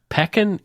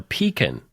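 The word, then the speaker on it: Pekin: to be a mispronunciation peekin Illinois or peon Illinois it's p e k i n Illinois huh so uh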